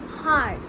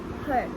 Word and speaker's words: heart: circulatory system how to the pronunciation of heart is hard not hurt okay heart heart not hurt hard the heart is a